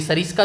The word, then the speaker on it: सैरिस्का: और ये सरिस्का जो है किसका नाम होता था, सरिस्का, इसको थोड़ा सा प्रोनाउंसिएशन अलग हो जाएगी, सैरिस्का हो जाएगी।